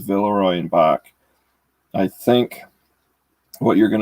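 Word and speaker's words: Villeroy & Boch: cool so that's what the bottom looks like villarroy and bach is how you pronounce that if you're in a goodwill you're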